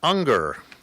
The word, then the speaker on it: Unger: we have our own matt unger which rhymes with hunger which is i'm sure